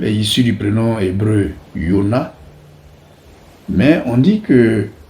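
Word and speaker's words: יונה: Jonas en français vient du grec Ionas, qui lui-même est issu du prénom hébreu Yona, mais on dit que en hébreu il est prononcé avec un H muet.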